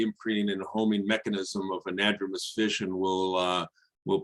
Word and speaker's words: anadromous: thing i will correct rebecca on is the pronunciation it's anadromous and diadromous um but that those are common